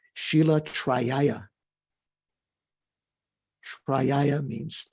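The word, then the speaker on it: शील: The Sanskrit word for morality is shila. Did you know that? Someone? No? Okay. Not like the girl's name, Sheila, Shila. You would write kind of in English characters for how to pronounce it in Sanskrit.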